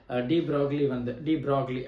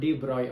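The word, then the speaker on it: de Broglie: கடைசியில் டி ப்ராக்லி ஆக்சுவலாக அதை நம்ம டி ப்ராய் அப்படின்னு நம்ம ப்ரொனவுன்ஸ் பண்ணணும்.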